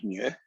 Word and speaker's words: mu: population and it has a mean it's called mu and a population can have a standard deviation